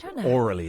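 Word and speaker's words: aurally: women are more hourly orally is how it's pronounced but if I say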